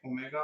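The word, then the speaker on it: ω: यह डब्लू नहीं है। डब्लू जो है वो इंग्लिश लैंग्वेज में इस्तेमाल है। ये ओमेगा प्रोनाउंस होता है।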